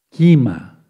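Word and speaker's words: כימה: pleyades ponle primero pléyades en hebreo se dice kima k&m a kima sí kima ya le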